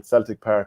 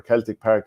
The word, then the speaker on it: Celtic Park: It's the 4th of March, which is a Saturday, and it's on in Celtic Park or Celtic Park, depending on how you want to pronounce it.